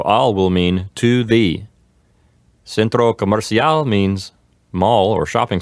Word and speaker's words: centro: actually three syllables yes Centro the accent goes in the in the first syllable just like in English